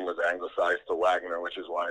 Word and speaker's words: Waggener: man it's no problem it's just pronounced wagoner though but okay my apologies wagner all right no worries